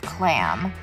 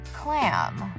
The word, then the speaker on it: CLAMB: We stan Count Zero on this channel, but we also stan CLAMB. You can follow them on CLAMBgram on Instagram. And everything has a silent B in it because that's just how they roll.